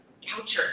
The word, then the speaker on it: Goucher: Goucher. That's what I thought, but I was like, poet brain, yeah, I almost said Boucher, and I'm really glad that, okay.